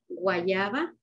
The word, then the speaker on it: guayaba: I think someone's asking you how you pronounce it again. Guayaba.